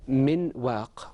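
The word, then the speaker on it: مِن وَ: remember when we said Min work in the Quran we don't say Min work the noon is not fully articulated it is pronounced repeat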